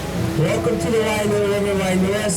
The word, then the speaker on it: Wailua: Wailua is spelled W-A-I-L-U-A. W-A-I in Hawaiian means fresh water. Okay, said as by.